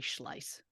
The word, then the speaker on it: Schlais: doesn't matter the point is it is Mary schleiss so I do apologize for my uh mispronunciation so a disclaimer as we do this